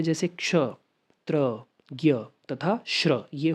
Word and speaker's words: ज्ञ: तो हिंदी में ज्ञ का उच्चारण ज्ञ हम ज भी बहुत बार पढ़ लेते हैं बट उच्चारण ज्ञ होता है।